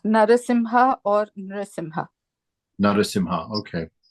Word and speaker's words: Narasimha: m a m i h a they both pronounced Swami it's narasimha or Nim Nar simha okay very good thank